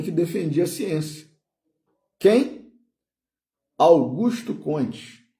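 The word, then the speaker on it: Augusto Comte: Augusto Cones, né? Na no no português aí, né? Que o nome dele, por ele ser francês, não era pronunciado dessa forma, né? A gente a portuguesou. Augusto Conte.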